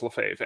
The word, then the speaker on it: Lefebvre: nonfiction books for writers, it couldn't pronounce Lefebvre, as most humans can't either. But what I did is I went into the manuscript, and anytime my name was mentioned, I changed it to L-E-F-A-V-E, and it got it perfectly.